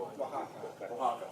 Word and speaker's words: Oaxaca: I probably pronounced that wrong too. Oaxaca, thank you.